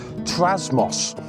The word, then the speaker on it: Trasmoz: Today I'm at a camper park which is in a place called, if I pronounce this correctly, Trasmoz.